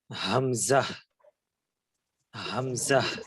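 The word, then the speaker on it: همزة: wow Hamza ইয়া জি হামজাটা হামজাহ হামজাহ এভাবে একটু উচ্চারণ করতে পারেন হামজাহ জি এটা যেহেতু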